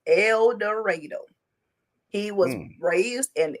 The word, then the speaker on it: El Dorado: elero Arkansas but that's is supposed to be El Dorado no it is pronounced eloro he was raised in eloro Arkansas that is where the park side of